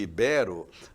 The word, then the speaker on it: ibero: Então, quem diz crisantemo, por exemplo, em vez de crisântemo, né? Eh, ou quem dizíbero em vez de ibero, eh, troca a prosódia